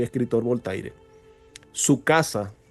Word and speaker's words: Voltaire: Hubo un filósofo del siglo X, XVI, que se llamaba Voltaire, pronunciándolo en castellano, Voltaire.